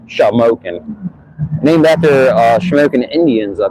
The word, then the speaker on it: Shamokin: Shamokin is spelled Shamokin. By matter of fact, right here's the sign. So it's a little different than smoking, like, you know, like smoking a cigarette or something like that.